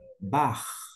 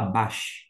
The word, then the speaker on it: Bach: na palavra ir ir bar a gente não fala Bach aquele famoso e músico bai você fala bar você usa esse som C alemão dito isto a gente